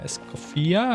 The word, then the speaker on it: Escoffier: You probably also mispronounce her name. Escopia. Ice coffee here. Sounds like a ice coffee uh to be a honest with this.